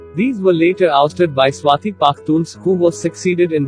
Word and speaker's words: Swat: Swat District Pashto, Urdu, pronounced Swat, 1, is a district in Malakan division of Khyber Pakhtunkhwa province in Pakistan.